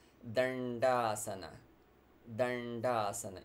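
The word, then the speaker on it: Daṇḍāsana: but it's darsana so these dots they indicate the cerebral of pronunciation again what we were talking about when we were discussing number 3 Trini so dandasana so your tongue curls touches the alveolar and shoots forward dandasana then das and it's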